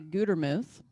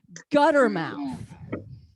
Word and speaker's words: Gutermuth: But a lot of people mispronounce it, and they just wreck it. You know, they'll mispronounce it and they'll say gutter mouth.